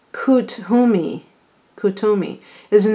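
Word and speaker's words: Kuthumi: kethu me it says it's pronounced coot who me who to me is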